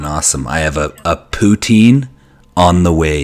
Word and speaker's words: poutine: doing awesome doing awesome i have a a poutine on the way it's getting delivered to me